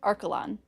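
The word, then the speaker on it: Archelon: Archalon is how that's pronounced.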